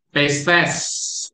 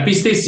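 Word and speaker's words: πίστις: Pistes atau ini. Bacanya adalah pistes. Jadi bukan pistis ya.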